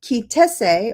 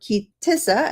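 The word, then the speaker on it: Ki Tisa: As a matter of fact, for the next 5 parshiot, including Teruma, Tetzaveh, a good part of Kitese, or Kitissa, as some would pronounce it, Vayakel, and Pekodeh, this is the primary topic of the Torah's narration.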